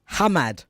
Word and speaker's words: Hamad: Ghazi Ahmed Hamad. Did I pronounce it well, sir? Yes, Hamad.